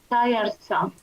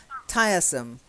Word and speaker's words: tiresome: The stress is on the first syllable.